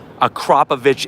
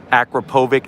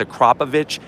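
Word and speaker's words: Akrapovič: this carbon series you're gonna get the optional a crop of itch exhausts now that's how you pronounce it a lot of people say Akrapovic it's a crop of itch it's actually six pounds lighter it's made out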